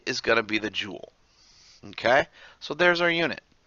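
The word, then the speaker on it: joule: this with a unit quite simply called The Jewel spelled j l e pronounced Jewel like j w l and it is abbreviated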